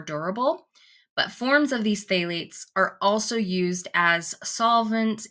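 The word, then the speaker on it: phthalates: on human health when used in cosmetics okay phalates and that's spelled p h t h a l a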